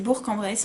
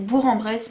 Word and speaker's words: Bourg-en-Bresse: département de l'ain c'est bourg-en-bresse en ligue 1 de bourg-en-bresse ain ya pas mal de fois à la télé on dit bourg en bresse mais non ça se prononce bourg-en-bresse qui est une ville